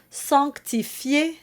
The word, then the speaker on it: sanctifier: The standard is three syllables, not four, which is no doubt why Duruflé provided the two options.